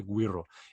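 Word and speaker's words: güiro: going with is the Guido GUI are oh and there some people pronounce it differently but if you want to pronounce a right it's the Guido it is basically like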